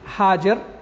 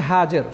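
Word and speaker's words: هاجر: তিনি যেন তার স্ত্রী হাজের যাকে আমরা হাজেরা হিসেবে চিনি কিন্তু তার প্রকৃত নামটা হচ্ছে হাজের সঠিক উচ্চারণ হচ্ছে হাজের এবং তার শিশুপুত্র ইসমাইল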